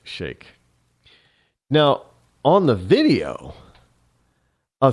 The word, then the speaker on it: Sheikh: I know some people pronounce it Sheikh, but it's actually pronounced Sheikh.